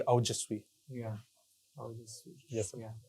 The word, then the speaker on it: Aojasvi: So actually, the pronunciation comes out to be Aujasvi.